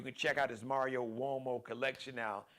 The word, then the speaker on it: Uomo: You can check out his Mario Uomo collection now. It's pronounced Uomo, Mario Uomo, so it's got the W sound, but Uomo spelled with a U.